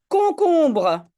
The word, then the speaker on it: concombre: Concombre. Non, je prononce comme un K, c'est tout à fait normal.